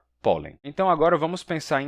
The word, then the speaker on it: pólen: Então, a palavra pólen, em espanhol, se escreve P-O-L-E-N e se pronuncia pólen. Pólen. Com toque aqui, N. Pólen. Diferente do português, né, que é só pólen.